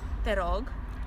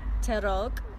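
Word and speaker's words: te rog: okay so how do you say uh please terog terog okay and quite an important one thank you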